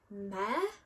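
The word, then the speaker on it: Mehr: The first one is in Mare, that's how you say it, and it is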